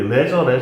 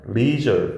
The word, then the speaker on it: leisure: 그 다음에 여러분들 우리 leisure 이런 말 하잖아. 근데 실제 발음은 leisure 이렇게 발음해야 돼.